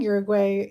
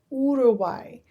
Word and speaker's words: Uruguay: going to keep saying Uruguay even though I know that's not how you pronounce it. It's It's pronounced in Spanish, the U makes it ooh sound. So, Uruguay.